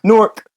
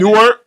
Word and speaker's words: Newark: But it's spelled Nork.